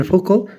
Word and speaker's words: Foucault: इनको फूको बोलेंगे, means it इज़ a right pronunciation फूको in accordance to the French language.